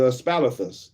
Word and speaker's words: aspalathus: something good boy that's the the uh the aspalathus the aspalathus that aspalathus both yellow flowers some